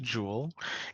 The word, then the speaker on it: joule: jewel this Jo Ellen it is pronounced jewel and one calorie is